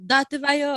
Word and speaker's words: dattebayo: And I was like, Tate bayo. And he's like, yeah, Tate bayo.